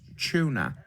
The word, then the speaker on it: tuna: It's pronounced tuna. Everybody knows that a T followed by a U is pronounced ch. This is basic English, guys.